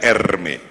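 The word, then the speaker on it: Hermès: ini ada merek Hai namanya Hermes bacanya er meet yang sangat dicintai oleh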